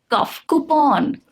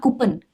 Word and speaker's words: coupon: Coupon, not coupon, coupon. Determine, not determine, determine, no mine, only min.